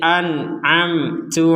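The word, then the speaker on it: أنعمت: dibaca sama-sama jelas an'amtu bedanya yang pertama itu hamzah yang kedua itu ain Jadi a an yang kedua a an am ya an amtu. Jadi jangan sama-sama dibaca hamzah.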